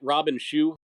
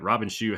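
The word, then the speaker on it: Robin Shou: I like most of them well am I pronouncing it right Robin Shu the lead Liu Kang well I watched the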